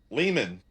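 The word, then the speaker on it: Lehmann: Leman.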